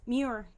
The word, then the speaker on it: Muir: I don't know how to pronounce that last name. Muir.